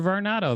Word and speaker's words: Varnado: up but uh victor victor is it victor varnado victor varnado that's great okay see i i i always